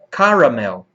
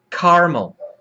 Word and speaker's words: caramel: Caramel. Caramel. Existem duas formas, com 3 sílabas ou com 2 sílabas.